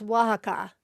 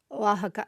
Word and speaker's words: Oaxaca: It's pronounced Oaxaca. Just like the same famous cheese from that region. Oaxaca. So, no O in the beginning. I was saying Oaxacan.